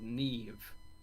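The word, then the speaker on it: Niamh: i used to know a girl called neve and it was spelled n-i-a-m-h and i just thought where are the last two letters from yeah yeah exactly i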